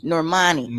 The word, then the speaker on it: Normani: you say her name and is it norman normani okay um but you have their little lesbian